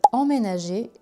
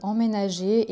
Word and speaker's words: emménager: Quelle est la différence entre emménager et déménager? Emménager, déménager. Déjà pour la prononciation c'est presque le même mot, il y a juste en, voyelle nasale, et dé qui fait la différence.